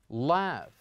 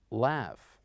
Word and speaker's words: laugh: is exactly GH and mostly GH when it comes at the end we pronounce it the same as we pronounce it here in the word laugh now in order to